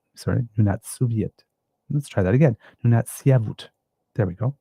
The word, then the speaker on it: Nunatsiavut: Nunatsiavut. There we go, pronouncing that correctly, Nunatsiavut musicians, and an agent of reconciliation.